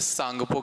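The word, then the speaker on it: Tsangpo: को जाना जाता है सांगपो के नाम से। किस नाम से जाना जाएगा? सांगपो के नाम से जाना जाता है। टी साइलेंट यहां रहने वाला है।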